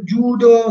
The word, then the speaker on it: Judo: Per Judo sì, per Jujutsu sì, perché vuol dire morbido si legge sempre lungo.